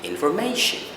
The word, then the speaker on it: information: Normally people would say information or information. However, if we go by the rule, it has to be information, I-O-N ending, or conversion, or any other word which ends with I-O-N.